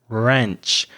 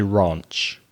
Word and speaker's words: ranch: Did you notice how Reza's pronunciation changed as he had an American pronunciation of ranch? So it's a more open sound, ranch. Whereas where I'm from, in the south of the UK, we'd probably say ranch.